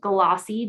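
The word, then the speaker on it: GLAAWC: The project title is 2022 Great Lakes African American Writers Conference, pronounced GLAWC, G-L-A-A-W-C, and they are requesting $10,000.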